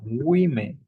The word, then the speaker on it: women: And it happens the same with woman and women. The pronunciation is completely different. Woman, woman, singular only one.